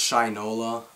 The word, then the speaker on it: Shinola: actually a Shinola wallet it's pronounced Shinola I like to say Shanola I think it sounds better but um for the